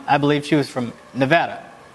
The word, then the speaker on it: Nevada: Roberto Lang um I believe she was from Nevada n Nevada that's how you properly pronounce that state um what would you what